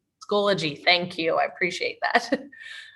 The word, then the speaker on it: Schoology: You had it right, Schoology. Yeah, Schoology is correct. Schoology, thank you.